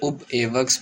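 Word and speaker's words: Ub Iwerks: देख सकते हैं आप स्पेलिंग, पेसमैन रूबिन आर्ट स्टूडियो में, जहाँ पर वो कार्टूनिस्ट उबे एबर्ट एवर्क से मिले, जो कि जिनका अच्छा तरह से उब एवर्क्स भी बोलते हैं।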